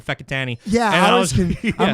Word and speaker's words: Whakatane: Whakatane Mountain. That's how they say it.